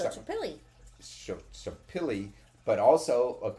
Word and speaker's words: Xochipilli: Social social social is pronounced So. Social social and so social the original social media god. No, Xochipilli.